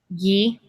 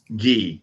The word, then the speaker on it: ghee: And how did you pronounce it again? Ghee. Ghee.